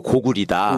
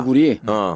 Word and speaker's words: 고구려: 그거를 나라 이름으로나 지명을 읽을 때는 려가 아니고 리라고 읽어야 된다. 그래서 고구려가 아니고 고구리다. 고구리.